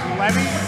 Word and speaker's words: Levy: The pronunciation of his name is Levy. He's very touchy about that. Well, that's okay. So please, Ariel Levy.